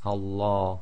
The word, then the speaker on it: Allah: say Allah okay so be very careful it's Allah and that's the effect of having the sound of fata before the lamb of Allah okay now we'll talk